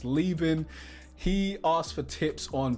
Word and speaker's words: Leavin: I believe that's how you say your name, mate. I remember he left a comment saying it's actually pronounced Leavin.